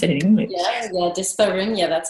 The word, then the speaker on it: dyspareunia: dyspareunia, or I don't even know how to pronounce it in English. Yeah, dyspareunia, that's how we say it.